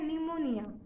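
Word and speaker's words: pneumonia: भी वैसा ही है निमोनिया में भी हम क्या करते हैं पी का उच्चारण होता है पी एन ए यू एम ओ एन आई ए but Hampi का उच्चारण नहीं करते तो कहते हैं की निमोनिया वैसे ही कुछ ऐसे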